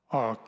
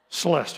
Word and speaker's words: Celeste: We've got David versus Calestra, I think is the way you pronounce her name, okay? Celeste, thank you. I knew I didn't do that right, but I got close.